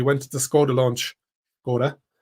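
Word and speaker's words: Škoda: to the scod launch scod as my colleague Li likes to wind me up that I say it correctly like my for my Czech friends and family H SC brought me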